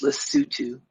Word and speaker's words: Lesotho: I was in a little country surrounded by South Africa called Lesotho. It's Lesotho, but it's pronounced Lesotho.